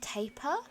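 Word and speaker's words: tapir: probably won't do those I've also heard apparently that it's pronounced taper but I have always pronounced it Tapia so I'm gonna stick with that one but yeah um camels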